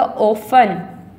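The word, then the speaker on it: often: यहाँ क्या होगा, यहाँ आएगा ऑफन, टी इसमें साइलेंट है।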